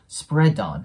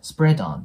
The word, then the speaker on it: spread on: に関しては D 破裂音でねその後母音が来てない時はがなくなるんですけど母音が来てる時はリンキングが優先されますなのでここでね D はなくならずに spad ON spad ON て感じでくっつくんですねでオンの